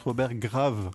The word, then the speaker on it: Graves: l'ai pas noté Robert en français ça se prononce Robert grave avec avec un s à la fin en anglais c'est Robert Graves Robert grav ah ça sonne mieux